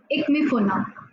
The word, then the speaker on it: Ikemefuna: I'll spell it for you. Ikemefuna. Ikmifuna.